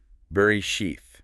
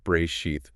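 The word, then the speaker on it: בראשית: Like um brachef he says think ber sheath. Okay. Beres. Got it. Yeah. Not brachath.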